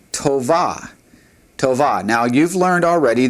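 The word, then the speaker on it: טובה: The feminine for this word is tova.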